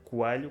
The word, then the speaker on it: Coelho: Coelho, que é o meu apelido.